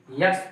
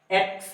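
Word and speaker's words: X: नहीं, यक्स तो सही नहीं है, सही उच्चारण यक्स नहीं है। सही उच्चारण इसका एक्स है, ये सही, एक्स। एक्स ये है।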